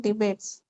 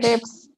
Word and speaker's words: debts: or outstanding debates? Not debates, debts. Debts. Debts. B is silent, debts.